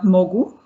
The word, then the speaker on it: Mogu: be an italian company called uh mogu i don't know if i pronounce it but is with us and he will hold his presentation thank you thank you catherine hope you can hear me properly yes great so well uh first of all uh my name is head of innovation at mogu a perfect pronunciation and yep i'm really